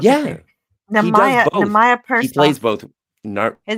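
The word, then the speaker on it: Nehemiah Persoff: Nemaya Persoff. He plays both. His name Nemaya is Nemaya Persoff, and he manages. Write that down phonetically.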